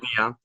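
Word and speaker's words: Avdija: Danny Avdia. I learned how to pronounce Patrick Williams slander on this podcast aloud. Avdia.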